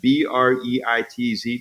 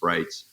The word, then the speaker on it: Breitz: pronounced that you know some people say breitz and so when I write it I say pronounce brights but it's about yeah